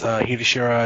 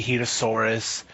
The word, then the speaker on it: Hitoshura: You could just say Hitoshura. It's Hitoshura. It's whatever. The name. I mean, people say Hitosaurus. I've gotten.